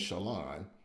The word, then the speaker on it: Shaleun: My wife's first name is Shalon, but it's spelled SHALEUN. So I'm curious on how